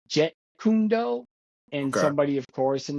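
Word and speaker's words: Jeet Kune Do: um I had said that Bruce Lee started Jean kundo and it's actually pronounced Jet kundo and somebody of course in the comment said it's not Jean kundo it's je kundo and I'm like okay listen none of my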